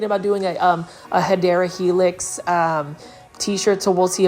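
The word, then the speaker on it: Hedera helix: over here we have a hedra helix or the correct way to say it is hyera helix or English ivy this is for $3.98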